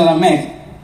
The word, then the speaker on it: Lamec: Entonces, Lamec, con K, que se pronuncia Lamec en hebreo, es considerado como el inventor del laúd.